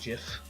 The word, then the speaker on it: GIF: blogs um alongside Tumblr will I insist is pronounced GIF um even though the G stands for graphical but is something I'll never give into it's GIF all these examples are relevant in modern day